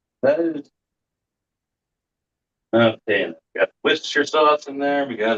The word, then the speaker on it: Worcestershire: Actually, it's Worcestershire. Yeah, I know.